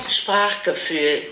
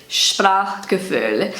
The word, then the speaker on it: Sprachgefühl: So that's how I say it in my Kiwi German, and this is how it's pronounced on Google Translate. Sprachgefühl. Sprachgefühl.